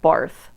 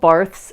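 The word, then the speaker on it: Barthes: has translated of Roland bar it's spelled bars I think it's pronounced bar or B he's French I don't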